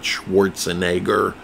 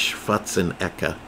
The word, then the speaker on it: Schwarzenegger: Yes, you all say his name wrong. It's not Schwarzenegger. He's not Jewish. It's Schwarzenegger.